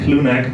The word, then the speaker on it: Clounaq: So therefore I would call it clone neck but I also accept other um uh pronunciation.